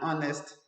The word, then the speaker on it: honest: we used and all right where's like an honest man an honest child honest child an honest